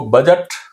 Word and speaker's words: bougette: पहला जो बजट word है इसकी उत्पत्ति एक फ्रेंच वर्ड बूजेट, इसका स्पेलिंग है BOUGETTE, बूजेट।